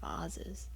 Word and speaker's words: vases: You said vases. Yeah, did you like that? Yeah. I'm sorry. I totally disrupted your train of thought. Well, that is how you pronounce it.